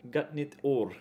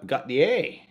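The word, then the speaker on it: Gott nytt år: And you pronounce it Gotnie. Gotnit or. Gotnit or. Nope, Gotnie.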